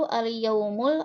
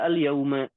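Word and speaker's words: اليوم: Apaan Ustadz itu yang al-yaum itu al-yaumul atau apa ya bacanya? Bisa al-yaum, bisa al-yauma. Oh, Bilang al-yaumu saja.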